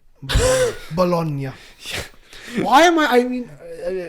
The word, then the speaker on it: Bologna: play against blonde bologna it's not it's not baloney bologna why am i i